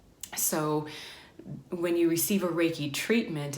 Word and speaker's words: Reiki: just gonna talk about Reiki what is Reiki how do you say it this is a common question how did you say that again it's composed of of two words ray and key and the loose translation